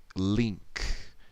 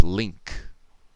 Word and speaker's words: Link: have him doing l it's technically link so l i but it's a long e sound so link that's how he says it he doesn't say like link like lick it's link link but it's starting almost from a soft vowel sound almost like it's starting